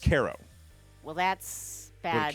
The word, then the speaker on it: Cairo: How's it pronounced? Cairo.